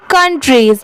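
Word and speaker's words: countries: ये है कंट्रीज, इसे सिर्फ कंट्री नहीं पढ़ेंगे, इसकी प्रोनाउंसिएशन है कंट्रीज, सी ओ यू एन। इसे काउंट नहीं पढ़ेंगे, यहाँ पर इसकी साउंड क्या आ रही है, कन की।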